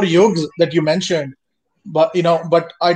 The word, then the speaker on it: yoga: There is Y-U-G-A and this is Y-O-G-A. Yuga and yoga.